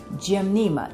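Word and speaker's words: Gymnema: cannot recommend this enough it's called gim Nea the sugar Destroyer I'll spell it for you because I see I have a glare it's G y m n e m a gim Nema it works I got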